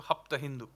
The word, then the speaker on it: Hapta Hindu: Sindhu in there, except they changed the pronunciation to Hapta Hindu.